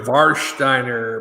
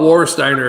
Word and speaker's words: Warsteiner: like war steiner but the w is pronounced like a v in german but you can call it war steiner if you want because